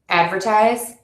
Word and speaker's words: advertise: And you're going to stress the syllable to before the suffix in words ending in c, t, phi, g, all, eyes, and ate. Sanity, critical, advertise, communicate.